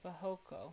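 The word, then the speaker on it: barroco: yeah by the way in portuguese it's pronounced something like bohoko yeah thank you i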